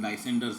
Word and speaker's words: Lysander: The fact that the first syllable in Lysander's name rhymes with lie only serves to heighten the humorous effect of the lovers' wordplay.